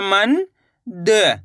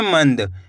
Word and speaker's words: मंद: माँ अनुस्वार की मात्रा मन द, तो मिलकर बन जाएगा मंद। कैसे पढ़ेंगे? मंद। ऐसे नहीं पढ़ना आपको मनद। मनद पढ़ोगे तो ना का पूरा उच्चारण निकल जाएगा। कैसे उच्चारण निकालना है आपको?